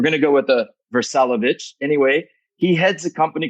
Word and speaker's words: Vrsalovic: Vrsalovic. Well, the Croatian way is Vrsalovic.